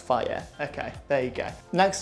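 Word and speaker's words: Fage: Greek yogurt uh f it says on the side it's pronounced fire okay there you go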